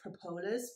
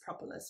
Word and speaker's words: propolis: to always pronounce as propolis but then i actually looked up the official pronunciation and apparently it is propolis which makes sense because we also say proper properties but anyway propolis what